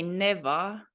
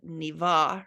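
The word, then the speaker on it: Нева: I think we pronounce this totally wrong because we say Neva Joki and Neva River, but it is supposed to be said like E sound, Niva River, Niva.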